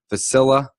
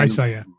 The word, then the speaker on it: Visalia: Or are you guys going down to, I'm going to say this wrong, Vasilla? And Visalia.